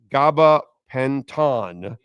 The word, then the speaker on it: gabapentin: Nyborg says gabapentin is pronounced gabapentin.